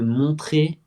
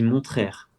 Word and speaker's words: montrer: a la capacité de montrer les actualités à travers les États-Unis. Je crois que dans la vidéo, tu dis montraire, du coup tu prononces toutes les et ça c'est un problème que j'ai pu voir.